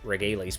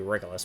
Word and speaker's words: Regulus: I know I pronounced it Regales piece in the Dear Days 1 videos I made, but I think it's supposed to be Regulus piece.